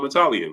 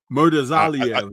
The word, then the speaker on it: Murtazaliev: multiple times to the point where it's Bakram Murtazaliev, right? Murtazaliev. I feel like there's a Z in there that you're ignoring. Murtazaliev, that's his name.